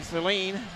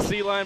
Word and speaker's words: Celine: Jeremy Celine. Did I say that right, your last name? Yep, it looks like, yep. It looks like C-line, but pronounced like Celine Dion.